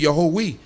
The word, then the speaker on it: Yahweh: It's not saying Yehovah, it's saying Yahweh.